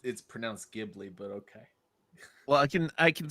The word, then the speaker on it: Ghibli: Well, it's pronounced Ghibli, but okay.